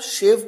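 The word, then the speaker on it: shave: और जब आप शेव करते हैं, हजामत करते हैं, शेविंग करते हैं, तो शेव वहां पर शलगम वाला श, तो प्रोनाउंसिएशन यहां पर मैटर करती है।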